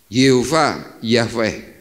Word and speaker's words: Yahweh: Alkitab perjanjian baru itu memakai tulisan jhwh artinya apa ini semuanya adalah huruf mati untuk mempermudah akhirnya orang membacanya Yahweh itu dalam bentuk bahasa